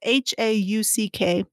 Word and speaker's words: Hauck: I feel bad because it's either Hook or Hauk, and I probably should have Googled that to see, but to see how you pronounce her name, but it's Hauck, and it was published on May 7th, 2013.